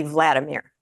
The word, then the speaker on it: Volodymyr: And I've heard it pronounced Volodymyr and Volodymyr, and I'm really not sure. The latest pronunciation I heard was that it is Volodymyr. It's like in Russian, that would be Vladimir, VLAD.